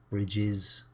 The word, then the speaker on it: bridges: That's easy but they're pronounced in three different ways - 'cats' with a 's', 'dogs' with a 'z' and 'bridges' with an 'is'.